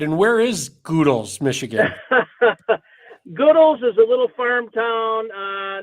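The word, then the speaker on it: Goodells: may well not yet did i get the pronunciation of your town right and where is goodle's michigan goodwill's is a little farm town north of richmond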